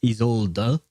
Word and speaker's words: Isolde: Although in ZZZ, I think it's supposed to be pronounced Isolde. Like there is a bit of an emphasis on the E at the end of her name.